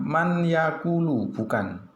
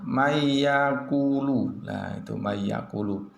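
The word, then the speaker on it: مَن يَقُولُ: betul wamayyudlillah berikutnya mayyaqulu, membacanya mayyaqulu \R bukan man yaqulu, itu yang salah yang betul bagaimana? mayyaquulu, ok, berikutnya adalah wamannu'ammirhu, caranya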